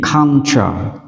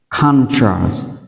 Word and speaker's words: culture: Culture. Culture, từ văn hóa, đúng không ạ? Culture, u đọc là á và u tiếp theo chúng ta đọc là ơ và t u chúng ta đọc là tra.